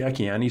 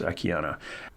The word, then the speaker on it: Akiane: dot com akiana um i say akiani sometimes because there's an e on the end of it but it's pronounced akiana and as we head